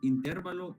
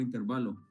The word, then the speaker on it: intervalo: Al final es intérvalo o intervalo. Las dos cosas puede pronunciarlo como usted dese.